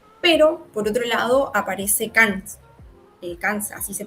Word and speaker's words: Kant: Pero, por otro lado, aparece Kant, así se pronuncia, y lo que él...